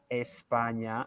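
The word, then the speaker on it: España: on that spania espana espana okay i am if i am from spain we have to pronounce the initial e okay i am from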